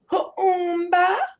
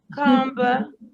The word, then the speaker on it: Kuumba: Kuumba. Yeah. And you gotta say it like that, you guys. You can't say kumba, kumba, because I didn't heard it all.